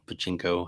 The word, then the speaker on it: pachinko: still maintain the rights for those for their patinco machines or whatever they're called pachinko how we pronounce it but the you know but maybe